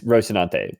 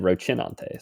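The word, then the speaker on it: Rocinante: It is Rosenante. But I said Rochinante.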